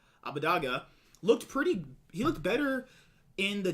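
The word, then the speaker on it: Abbedagge: I think that Abadaga is that's how he wants to pronounce Abadaga.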